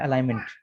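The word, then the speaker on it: alignment: गाड़ी में इसकी फुल फॉर्म है अलाइनमेंट। ठीक है, ALI, G साइलेंट है, NMENT।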